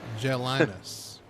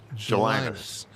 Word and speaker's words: Jelinus: So Jelinus. Jelinus. It's easy to say unless you're looking at it.